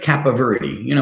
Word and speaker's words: Capoverdi: Now, he does have a big Italian last name, but it's not that hard to pronounce. It's like Capoverdi.